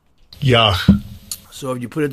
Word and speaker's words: Yah: So how is that pronounced? Strong's H3050. Yah. Yah.